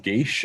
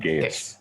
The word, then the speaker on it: geas: to pronounce this wrong, is it Gaia spell, so Geas. I've heard it pronounced Gaish and Gaius.